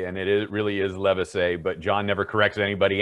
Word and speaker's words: Livesay: this guy and that's another thing we've always mispronounced john's name is live say and it it really is levisay but john never corrected anybody anyway nice it's